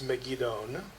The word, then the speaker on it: Megiddon: Zechariah 12:11 is unique in that it's the only time Megiddo is spelled with an N at the end. It's Megiddon.